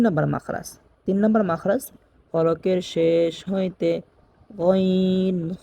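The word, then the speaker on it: غ: যেমন ওয়া, গইন, গইনের মাখরাজ ইতিপূর্বে বলা হয়েছে 3 নম্বর মাখরাজ থেকে গইন উচ্চারণ হয়।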